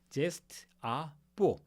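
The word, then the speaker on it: geste à peau: 즉 , G 로 시작 하는 "geste a peau" 는 영어 와 독일어 모두 에서 강한 G 발음 으로 읽을 수 있습니다 .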